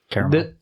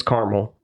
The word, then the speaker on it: Carmel: Right. Caramel. No. Shut up. No. It's Carmel. It's not. It's not. No, not spelled the same.